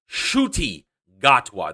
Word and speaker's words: Ncuti Gatwa: doctor who star such education actor it is pronounced shooty gothwa that is his name shooty got one as